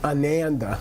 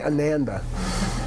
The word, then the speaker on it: Ananda: Don't say Ananda, because that means the unhappy guy. You see what I mean? Let me hear. Ananda. Yeah, not Ananda. Ananda means unhappy.